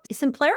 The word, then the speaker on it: Simplero: Can you tell us about Simplero?